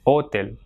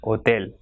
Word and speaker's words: hotel: Same way, hotel. So it has got 2 syllables. So the last one will be stressed. You will not say hotel, but it will be hotel.